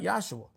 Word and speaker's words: Yahshua: I want to say it right, Yahshua, because that was the proper pronunciation of his name.